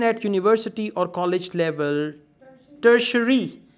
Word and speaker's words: tertiary: Tertiary. T-I will give the sh sound.